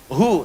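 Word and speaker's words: هو: Hu. Singkatan dari hua. Hu itu singkatan dari hua. Hua begini. Karena kalau kita wakaf dalam bacaan hua, wya enggak dibaca. Bacanya hu.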